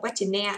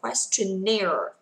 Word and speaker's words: questionnaire: Không đọc questionnaire, đọc là questionnaire, questionnaire and conductor survey, conductor survey.